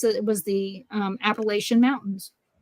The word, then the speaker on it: Appalachian: old just put that just so you know it's Appalachian appalachin sorry you say it wrong there they know you're a visitor and you might get